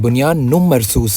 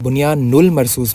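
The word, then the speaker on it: بنيان مرصوص: तो प्लीज इसको सही प्रोनाउंस करें। बुनियानु मरसूस है। बुनियानुल मरसूस नहीं।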